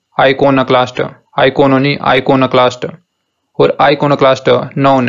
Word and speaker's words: iconoclast: तो जो सही तरीका इस वर्ड को प्रोनाउंस करने का वो है आइकोनोक्लास्ट, आइकोनोक्लास्ट, आइकोनोनी, आइकोनोक्लास्ट, और आइकोनोक्लास्ट नाउन है।